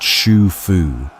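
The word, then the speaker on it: Xu Fu: One fleet led by a man named Shu Fu, pronounced Shu Fu, sailed east with hundreds of young men and women.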